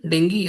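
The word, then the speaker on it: dengue: तो ये female Aedes mosquito is a vector for डेंगी disease. ठीक है, डेंगी या फिर इसको हिंदी में हम लोग डेंगू बोलते हैं, एक्चुअल में इसको डेंगी प्रोनाउंस करते हैं।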